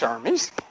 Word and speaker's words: Hermes: a little bit okay let's see now John Hermes pronounced Hermes is the messenger of the Gods in Greek